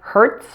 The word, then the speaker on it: Hertz: breeze organized and specialized an exception to this rule are the few words that end with T Z now those are pronounced with an S these are rare and include words like Hertz waltz and Ritz Carlton now if a word